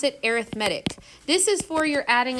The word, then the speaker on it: arithmetic: It's spelled exactly like the word arithmetic, but you pronounce it arithmetic.